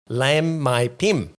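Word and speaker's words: Laem Mae Phim: small Beachside town of lamb my Pim silent h silent h uh after it was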